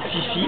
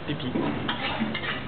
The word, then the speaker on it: Phi Phi: Ça s'écrit Fifi mais ça se prononce Pipi.